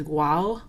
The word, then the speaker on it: guau: And you're going to see Spanish speakers sometimes spell this guau, like that, because that's what it sounds like to them is guau, guau. There's like this really soft G in here.